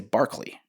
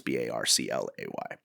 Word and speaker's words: Barclay: last name's Barclay and everybody wants to say Barkley, or they want to spell it Barkley, but it's Barclay.